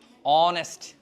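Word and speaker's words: honest: যায় এই passage right so এইচ উচ্চারণ হচ্ছে না লাইফ আছে সেক্ষেত্রে আমরা দিব এন অনেস্ট আমার কারা দিকে তাকাও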